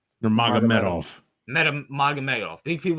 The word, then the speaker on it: Nurmagomedov: But how you pronounce his last name? Nurmagomedov.